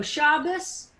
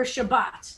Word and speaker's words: Shabbos: eastern european jews pronounced if there's no dot in the top it's a sound so shabbos or shabbat depending on whether and